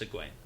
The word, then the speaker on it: Egwene: Don't worry, that's a hard one, and there's a lot of talk about how to pronounce that name, but it's Egwene.